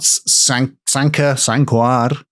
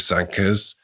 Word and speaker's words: Sanquhar: We've got Sanquhar, if you want to pronounce it wrong. Bunch of Sankas.